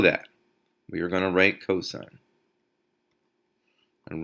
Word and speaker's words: cosine: still say cosign you don't say cos or Coast's you say cosine tangent is spelled like